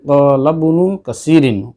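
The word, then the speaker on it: قال ابن كثير: পড়ার সময় কি বলেছি, ক্বালা ইবনু কাসিরিন, ক্বালা ইবনু কাসিরিন। এখানে ইবনু যে শব্দটা রয়েছে আলিফ, আমি আলিফটা কিন্তু আলাদা করে উচ্চারণ করিনি।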